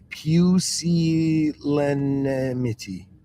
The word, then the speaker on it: pusillanimity: Pusillanimity. Trust me, guys, that's the way to pronounce it.